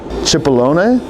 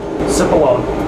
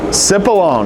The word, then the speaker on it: Cipollone: Like maybe that's like Italian, like a Cipollone? I don't know. Let me know in the comments. Whit, how do you say this one? Cipollone. Cipollone. I was not close when I said it the first time.